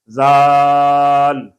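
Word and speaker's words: ذال: ये भी नरम हरफ है, आप इसमें सख्त आवाज नहीं निकाल सकते, जाल, जाल, सख्त सीटी वाली आवाज नहीं निकाल सकते।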